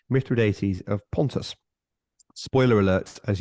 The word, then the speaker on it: Mithridates: The Romans were fond of fighting wars against Mithridates, and I checked the pronunciation, Mithridates of Pontus.